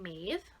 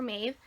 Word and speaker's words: Maeve: It's actually a crop jumpsuit by the brand Maeve.